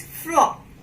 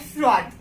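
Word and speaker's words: froid: D you will not pronounce at the end of word. So it is fro. What is it? Fro, not fraud. It's fro.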